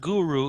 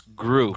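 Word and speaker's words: Groot: cool not as good it's not guru it's group group excuse me one syllable why am i calling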